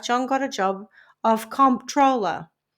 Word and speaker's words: comptroller: His career appearing to be on the up and up, by 1965, John got a job of comptroller, not to be confused with controller.